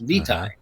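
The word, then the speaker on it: Vitai: mean his last name is v v-i-t-a-i it's pronounced vitae the first name was multi-multi-syllabic and i i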